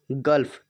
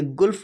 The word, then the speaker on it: gulf: ऐसे ही GULF गल्फ, इसे गुल्फ नहीं पढ़ा जाता, इसे गल्फ पढ़ते हैं, यानी कि गल्फ माने होता खाड़ी।